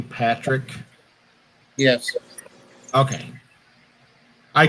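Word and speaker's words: Padric: spelling it's p-a-d-r-i-c but it's pronounced patrick even though it's spelled that way he told me he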